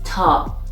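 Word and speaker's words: ط: word for example the 19 letter is top which is pronounced t for example like tank in english it has one form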